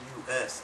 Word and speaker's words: Eli Normus: ELINORMUS. Eli Normus. Just like enormous. It is enormous. But it's Eli Normus, okay?